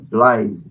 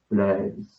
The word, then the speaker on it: Blaise: A gente pronuncia uma forma mais aportuguesada, né? Blaise Pascal, né? Blaise Pascal e vai por aí, né? No francês ficaria tipo Blaise, né?